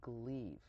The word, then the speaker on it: Gleave: a medical cosmetic clinic we have Jenny Lynn gleave do i pronounce it correctly that's corrected this time it's